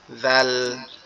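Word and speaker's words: ذ: আর যদি এর উপরে নোক্তা থাকে তাহলে কিভাবে উচ্চারণ করব? জিহ্বার আগা সামনের উপরের দুই দাঁতের আগার সঙ্গে লাগায়া জাল, জাল, জাল, জাল, এভাবে।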